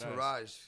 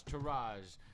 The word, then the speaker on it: Tourage: No, just because Tourage, people misspell it. You got to follow the page. The enlightened entourage, Tourage. Tourage. Right? Tour and Rage, but the R is just one.